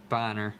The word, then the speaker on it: Bonner: usually we get Anthony Bonner I always wanted to call him Anthony Boehner but nope that's not how you pronounce it Robert Parish all-star card